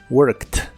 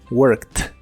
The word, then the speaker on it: worked: pasado que es worked en cuanto a la pronunciación la Ed que le agregamos al final suena como una t en este caso worked worked y esta forma del